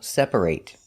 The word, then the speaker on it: separate: If it's a verb, it's pronounced eight. Example, separate. If it's not a verb, an adjective, for example, it's pronounced it. Separate.